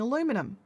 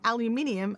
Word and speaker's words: aluminium: like in Australia, I I used to just take the mickey out of all Americans for saying aluminum. But then I found out they spell it aluminum. They actually spell it differently as well. So, they spell it and say it differently. whereas we we say aluminium and we spell it aluminium.